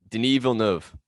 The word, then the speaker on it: Denis Villeneuve: How do you I don't want to pronounce it wrong. Denis Villeneuve.